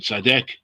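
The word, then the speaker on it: צדק: Yes, they are tzaddik, they are tzadek, tzedek in this context, in the pronunciation, tzadek, that your judgments are righteous, they are right.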